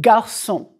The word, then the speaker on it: garçon: Okay, just to clarify, here's a hard G sound. Daniel est un garçon. The G is hard.